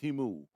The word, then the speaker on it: Temu: It's pronounced Temu.